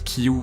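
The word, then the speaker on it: 九: Izuku pour le 9 qui se prononce Kyu mais aussi Ku.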